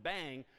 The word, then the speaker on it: bang: Using the exclam exclamation point pronounced bang is how you invert logically certain things.